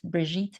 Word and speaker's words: Brigitte: My name is Brigitte, rhymes with beet, Brigitte, beet.